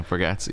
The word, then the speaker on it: Bargatze: Yeah, Bargatze.